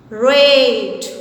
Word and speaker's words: rate: Rat, as you have read before, With the addition of E, it becomes rate.